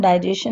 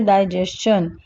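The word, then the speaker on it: digestion: इसको हम डाइजेशन नहीं बोलते हैं, इट is wrong pronunciation, we से डाइजेशन।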